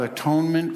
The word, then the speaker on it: atonement: This step is about atonement for past wrongs. As somebody said from the pulpit a couple weeks ago, atonement can be pronounced at-one-ment.